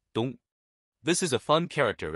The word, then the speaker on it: 冬: In today's video, we'll teach you the Chinese character for winter, pronunciation, dong.